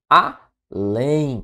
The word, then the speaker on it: além: Por fim, além. Cuidado, além é uma oxítona, terminada em E, seguido de M.